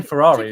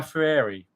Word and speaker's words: Fieri: I say Ferrari, it's not Ferrari. Guy Fieri.